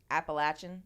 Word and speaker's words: Appalachian: so sad are you Appalachian yeah Bab did I say it right appalachin yeah appalachin I'm Appalachian as [ __